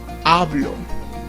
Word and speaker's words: hablo: Hablo.